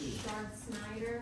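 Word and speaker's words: Chard Snyder: Shard Snyder. It's spelled c h a r d s n y d e r.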